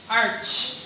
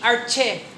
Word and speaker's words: arche: Arch. Arch. Art. Ang A-R-C-H-E, arche. Mukhang arche, pero ang pronunciation, arch.